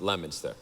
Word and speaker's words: Leominster: If you read it, it says Leominster. We pronounce it Leominster.